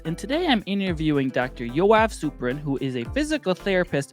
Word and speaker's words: Yoav Suprun: Yoav Suprun. Did I pronounce it right that time?